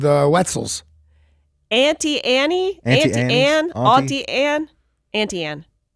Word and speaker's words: Auntie Anne's: The woman who created this business says it's Auntie Anne. Yeah, she pronounces it correctly. Right. I hate you. She's not a show-off snob. Most people, I think, from my neck of the woods do pronounce it aunt, but it's Auntie Anne's.